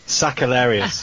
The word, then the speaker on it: Sakellarios: Sakellarios. There you go. I didn't pronounce just a little, it correctly.